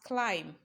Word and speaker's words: climb: we are looking for option a is pronounced as climb climb climb that b that you see there is a silence one it is not pronounced you act as if